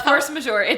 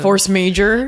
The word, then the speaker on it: force majeure: No, I know it's force majeure. That's probably how I say it too. No, I just wanted to force major. Wanted to make fun of you. Force majeure.